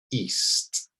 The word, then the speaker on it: east: So here it's pronounced like the letter E, east, east. All right, try it out, east.